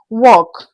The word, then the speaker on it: walk: Walk. You can already see it here in Mastering Oral English for WAEC and JAMB Candidates that walk has the silent letter L. Okay, the L in walk is silent.